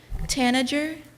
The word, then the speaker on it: tanager: with um lebe's word Tanager Tanager Tanager Tanager am I pronouncing it right Tanager sounds correct Tanager may I have